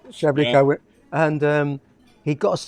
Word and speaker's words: Treblecock: Or Treblecock. Yeah, Treblecock. Yeah, you know. It's pronounced Treblico. yeah, Treblico.